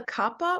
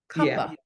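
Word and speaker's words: Kapha: this this is the Kappa or kafa how do you pronounce it we call it Kappa Kaa okay but we call it Capa okay now now this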